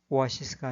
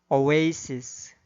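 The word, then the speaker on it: oasis: 주어진 단어의 경우에도 인디애나폴리스가 아니라 인디애나폴리스, 사우디아라비아가 아니라 사우디아라비아, 암스테르담이 아니라 엠스터담, 리오데자네이로가 아니라 리오데자네이로, 소크라테스가 아니라 사크라테스, 오아시스가 아니라 오에이시스, 메르세데스가 아니라 머세디스로 발음해야 합니다.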